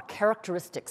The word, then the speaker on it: characteristics: So what you're going to describe are characteristics. Please underline the word characteristics. Now, I know that is a difficult word to pronounce.